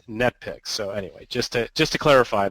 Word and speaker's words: NetPicks: And no, it's not Netflix. That's what my mom always likes to say. Oh, Mark, he works for Netflix. It's like, no. It's NetPicks.